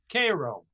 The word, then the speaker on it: Cairo: turn of the century the main town was cairo which is a city on the mississippi now it's not pronounced cairo down there it's called cairo naturally naturally and and i was i